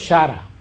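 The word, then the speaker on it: χαρά: La palabra griega para definir eso es shara. Shara es lo que se pronuncia. Yo no puedo pronunciar bien entre CH y K.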